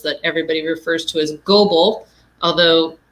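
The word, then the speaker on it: Goble: everybody refers to as gobel although most people not from the area pronounce it as gobble which is awesome thinking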